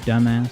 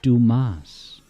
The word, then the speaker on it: Dumas: I your man Mr dumbass and then he goes in this very proper voice he goes the name is Dumas he was saying it wrong um all right hey